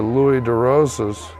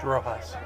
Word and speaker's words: DeRojas: he comes in for Louis DeRosas, or DeRoxas or DeRosas? DeRojas. DeRojas, there we go, DeRojas.